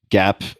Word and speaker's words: GAAP: Facebook trades at 14 times GAP EPS. Am I pronouncing that correctly?